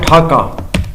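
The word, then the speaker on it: Dhaka: ہے جی ڈھاکہ کا، اور اس کے سپیلنگ یہ ہے ڈھاکہ، اور ہم ڈھاکہ ہی پڑھتے ہیں، ڈیکا نہیں پڑھتے. لیکن آبویسلی یہ پروننسیشن برٹش کا تھا، کیونکہ دیکھو مے بی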